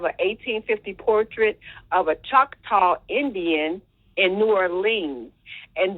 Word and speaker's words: Choctaw: Am I saying it right? Choctaw. She's a Choctaw Indian. Well, some people say Choctaw, but go ahead. Choctaw. Okay, Choctaw or Choctaw.